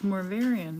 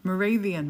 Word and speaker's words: Moravian: Mor wait, is it It's Morvarian, right? Is that how you say it? Moravian.